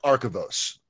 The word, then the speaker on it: Archivos: Is it Archivos? Please pronounce that for me. They told me this was going to be a problem. And it's true. It is. It's I call it Archivos. Archivos. Okay, Archivos. That's good.